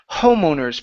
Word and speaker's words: homeowners: have this one here homeowners pronounce that H homeowners homeowners okay so here you're saying homeowners the the H on owners is not there so it's homo homeowners okay homeowners there you go and your last